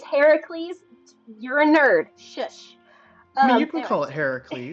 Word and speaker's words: Heracles: Um, the Greek pronunciation is Heracles, named after his mother.